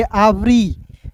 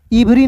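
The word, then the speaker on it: every: तो इसे पढ़ेंगे एवरी। इवरी नहीं पढ़िएगा दोस्तों।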